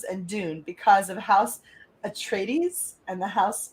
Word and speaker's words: Atreides: game of thrones and dune because of house atreides and the house harkonnen rival in the books good job on the pronunciation thanks i feel like you're being sarcastic